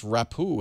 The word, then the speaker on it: Rapoo: I'm told it's pronounced Rapoo, and it is.